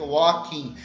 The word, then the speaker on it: walking: kim walk então repito o ele não é pronunciado portanto fique walking e quando o problema